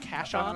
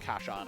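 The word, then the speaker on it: Casshern: Yeah, it looks like cashern, but I think in Japanese it's pronounced cash on or something like that.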